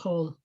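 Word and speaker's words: כל: It gets shortened from the long vowel O to the short vowel O. But they're all pronounced kol.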